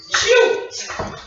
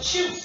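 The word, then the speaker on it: Chut: words to describe a person the word is Cho that's right ladies and gentlemen Cho let's all say it together 1 2 3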